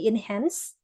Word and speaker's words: enhance: Yang pertama, ini bukan enhance, jadi C-nya tuh dibacanya S, jadi enhance.